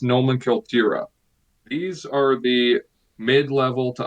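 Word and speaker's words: номенклатура: In Russian, it's pronounced nomenklatura.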